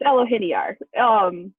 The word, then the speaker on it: Elohiniar: And it is none other than Elohiniar. Am I pronouncing that right? Close. It's Elohiniar.